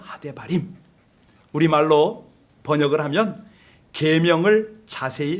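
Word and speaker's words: הדברים: 히브리 말로는 하데바림 이렇게 발음을 하거든요. 하데바림.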